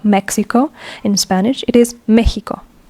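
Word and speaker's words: México: with an X but this x extraordinarily is pronounced as a h as a j so it is not Mexico in Spanish it is Mexico Mexico this x is like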